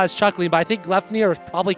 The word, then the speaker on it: Gleipnir: I was wondering how you'd pronounce that, which is why I was chuckling, but I think Gleipnir is probably correct.